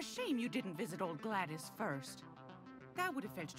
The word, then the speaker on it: Gladys: Gladys, that's how you say her name.